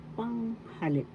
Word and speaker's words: panghalip: third fifth syll pronoun panghalip First syllable pang second syllable ha third syllable lip panghalip the first syllable has the accent and we have several examples